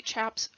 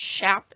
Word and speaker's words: chaps: chinks chinks are essentially chaps or shafts i've been told that it's pronounced shap and not chap but i've just always